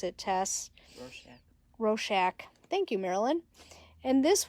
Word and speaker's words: Rorschach: It kind of looks like one of those Rochard, or however you pronounce it, Tess. Rorschach.